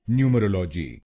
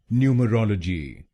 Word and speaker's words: Numerology: British pronunciation में इसको बोलेंगे न्यूमरोलॉजी। न्यूमरोलॉजी। इस शब्द में 5 शब्दांश हैं। पहला शब्दांश है NU, दूसरा शब्दांश है ME, तीसरा शब्दांश है ROL, चौथा शब्दांश है O और आखिरी शब्दांश है GY।